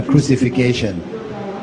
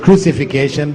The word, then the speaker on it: crucifixion: Okay, this is the common mispronunciation amongst you, yeah? Crucifixion. It's not crucifixion, but crucifixion.